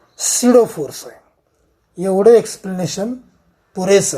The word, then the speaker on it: pseudo: जरी spelling PSEUDO असं असलं तर याचा उच्चार करताना सिडो फोर्स असं करायचं, सिडो फोर्स.